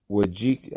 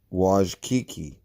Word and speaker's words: Wojcicki: He was married to Anne Wojcicki. I always say her name wrong. Wojcicki.